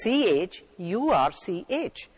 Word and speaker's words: church: you the words are chorus and church chorus is spelled c-h-o-r-u-s church is also spelled c h u r c h in the first word chorus c h has